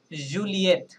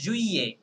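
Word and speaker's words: juillet: তাহলে এখানে হওয়ার কথা ছিল যে জুলিয়েত, ওকে জুলিয়েত, বাট ইটস নট এ জুলিয়েত, ওকে এটা হচ্ছে জুইয়ে, জুইয়ে, রাইট, হ্যাঁ ডাবল এল সাইলেন্ট থাকবে।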